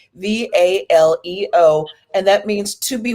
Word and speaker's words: Valeo: And I want to make sure that people see that Valeo is spelled Valeo, because I hear the A and it's like, oh, Valeo, but no, it's actually Valeo, and that means to be well.